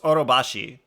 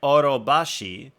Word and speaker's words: Orobashi: exact way, but like you can either go up or down on certain syllables. So you can say like Orobashi, or it can be like Orobashi, or you can say Orobashi.